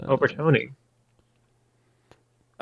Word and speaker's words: overtoni: torell specimen of prognathodon overton. Oh yes, they have there's there's overton I mean that's what that's how I personally pronounce it. You could also say overtoni but overtoni I mean tomato.